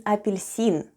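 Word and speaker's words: апельсин: russian for an orange the first sound is ah then we have po then goes ye then we have which is followed by soft sign and soft sign makes the preceding letter sound soft so we have le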